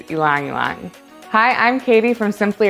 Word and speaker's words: ylang-ylang: ylang ilong ylang yong it's hard to know how to pronounce this oil's name but the correct pronunciation is ilangilan hi i'm katie from